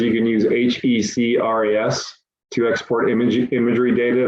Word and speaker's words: HEC-RAS: says you can use h-e-c-r-a-s to export image imagery data that you can then bring in the cad you use hec-ras that's how that's pronounced um oh you serious